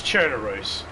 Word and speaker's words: Chernarus: were spawning he's um cherus chenaris however you want to pronounce it it's chernarus but that's what the guy